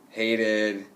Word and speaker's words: hated: So if we have a T or D, then we have to add the id sound, okay? Short I and D together, and it makes a new syllable at the end. Wanted, hated, started, okay?